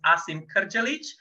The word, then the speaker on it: Asim Krdzalic: I'm sure you were all wondering how to pronounce my name it is Asim karchalic and I originate from Eastern Europe but has